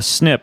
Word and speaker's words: SNP: you listening in a snip all that stands for single nucleotide polymorphism or SNP and you you pronounce it snip you're gonna see it if you see a written as SNP and your DNA is